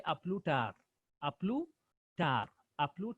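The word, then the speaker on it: à plus tard: Then the next one, say we the S pronoun is silent. So we say a plus tard.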